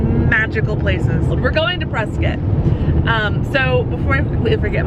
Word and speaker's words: Prescott: It's spelled Prescott with an O, C-O-O-C-O-T-T, but it's pronounced Prescott.